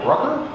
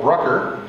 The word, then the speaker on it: Brucker: And with us today, Brucker. Yes. Who sounds like Hooker.